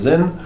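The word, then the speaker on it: Sinn: You might also hear people talk about Zinn. It looks like Sin, it's S-I-N-N, but it's pronounced Zinn.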